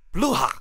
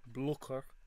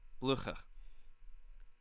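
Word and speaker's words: Blücher: And you completely butchered the name, too. Yeah. Blucher. Blucher? Yeah. Blucher.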